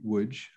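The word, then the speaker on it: Łódź: and um obviously um the polish pronunciation uh would be woods i think many of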